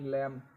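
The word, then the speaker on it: lamb: अब यहाँ एम बी आ रहा है, एल ए एम बी लैम, तो बी साइलेंट हो गया।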